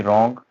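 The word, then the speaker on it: wrong: डब्ल्यू कब silent हो जाता है, जब किसी वर्ड की स्टार्टिंग होगी और उसके बाद जो है आर आ रहा होगा तो भी वो साइलेंट हो जाता है। जैसे कि रॉन्ग, रिस्ट, रैप, रैक।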